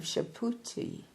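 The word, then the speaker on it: Subhuti: and at the same time a Reincarnation of shapi s u b h u TI one of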